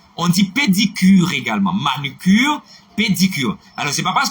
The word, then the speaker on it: manucure: Alors, c'est pas manicure. Et c'est manucure. Et ça nous dit. Et Iliane Alcima qui fait rejoindre, corrigez pour nous, s'il vous plaît. On ne dit pas manicure. Il existe, oui, non, non. C'est en anglais. C'est manicure. Manicure. Ok, ça c'est de l'anglais. Manicure. Ça c'est de l'anglais. Mais le mot français, c'est manucure.